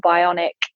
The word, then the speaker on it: BIONIQ: were just launching here in the UK called Bionic. And for anyone interested, it's spelled BIONIQ.